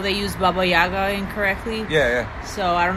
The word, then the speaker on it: Baba Yaga: Baba Yaga is how you pronounce it, not Baba Yaga.